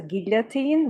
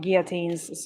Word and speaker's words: guillotine: The French and Flemish Dutch pronounce it with an L. I may have heard then a French person pronounce it, because I am 100% certain that I've heard somebody pronounce it as guillotine with the l. But also, I don't hear a lot of people talk about guillotines, so yeah. Basically, guillotine in English, that's how I'd say it.